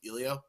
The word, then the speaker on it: Elio: whatever you were there it's pronounced ilio ilio ILO yeah ilio um you know